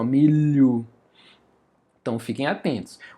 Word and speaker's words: milho: aí um dígrafo consonantal, milho também, ó, milho. Não, não falamos esse som do H, só é do L. meio que como se fosse uma marca de nasalização, ó, milho.